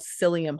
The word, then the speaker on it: psyllium: are the brand names the type of fiber is called psyllium husk which is spelled with a p so it's p s y l l m um and that is